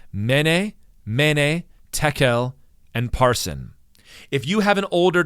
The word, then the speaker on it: Parsin: The word is Parsin, or it might be a soft P, Farsin.